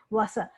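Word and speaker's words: Wasser: बुलाते हैं तो वासा, वासा। यहाँ पे उच्चारण वसार लिखा हुआ है, पर जब हम ब्लेंड करके तेजी से बोलते हैं तो इसका वासा।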